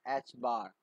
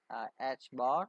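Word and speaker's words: ħ: joel second and is pronounced as h bar i mean this is uh pronounced as h bar or h curve is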